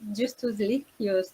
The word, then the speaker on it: Justus Lipsius: And in English, we say Justus Lipsius, no, like in Latin.